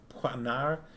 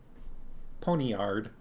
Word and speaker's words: poniard: Poignard? Really not how I expected it to be pronounced. There is probably, I'm sure, a, anglicized version. I see, more like poignard. Or because P-O-N... P-O-N-I-A-R-D. So there's no O-I in it. In the version I just read is spelled like that.